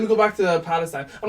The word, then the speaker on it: Palestine: go back to the palestine i'm not going to say pastor i might goof follow steen fam you got to say it properly follow scene the protest was guaned